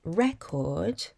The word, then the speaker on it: record: For example, the word record carries the stress on the first syllable when it functions as a noun and on the second syllable when it functions as a verb.